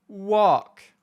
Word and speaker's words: walk: nous apprend à l'école les mots en LK où le L est muet comme dans talk walk et la liste est